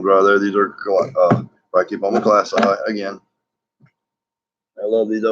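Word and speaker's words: klaasi: of these Latin words, they end, the letter I ends in the I sound. It won't be E. It won't be class E. It would be class I. Homori. This I and that I. So it's an I sound for proper pronunciation.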